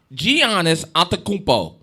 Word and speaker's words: Giannis: don't you forget that that was all giannis giannis just in case you people don't know how